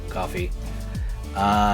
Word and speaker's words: Ko-fi: I can never remember how to pronounce it. Coffee.